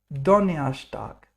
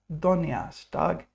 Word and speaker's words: Donnerstag: Donnerstag, not Donnerstag, Donnerstag, because the R is pronounced like er, Donnerstag.